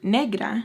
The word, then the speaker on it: negra: I said negra and she was like, oh, thank you guys for educating me.